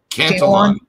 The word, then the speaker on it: Cantillon: Jerry, how do you pronounce? Do you say Cantillon? Cantillon.